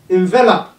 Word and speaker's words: envelop: committee edition emphatic encircle envelop take note of this envelop and envelope it's a minute so this